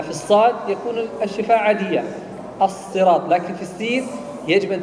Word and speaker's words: الصراط: الصراط الصراط الصراط الصراط لا تقل الصراط او الصراط لا تحرك شفتيك لانها لا تحتاج الى حركه jangan digerakkan bibirnya karena dia bukan huruf bibir الصراط الصراط الصراط مخرج الصاد والسين من نفس المخرج لكن الذي يختلف الشفاء